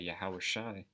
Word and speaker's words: Yahweh: the most high every spirit that confesseth that yahweh all right that's how you say it in